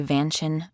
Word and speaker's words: vantion: So this prompt was, can you write me a rhyming rap song that talks about my vantion? Vantion rhymes with mansion. It's a combo of the words van and mansion.